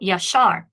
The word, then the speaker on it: yashar: So yashar, here is the accented syllable, so there's the tone syllable, and then the ya would be pretone.